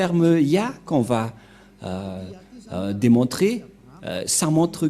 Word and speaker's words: Yah: Qu'on ne doit pas changer, car dès que vous voyez les formes Yod et He, vous le prononcez directement Ya.